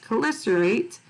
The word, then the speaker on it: chelicerate: So it looks weird, but it's pronounced chelicerate.